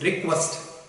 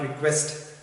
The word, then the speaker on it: request: And the pronunciation of the word is request, not request. And the request is used both as a noun and verb.